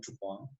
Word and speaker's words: Dupin: Auguste Dupin, French name, tulisannya Dupin, tapi bacanya Dupin.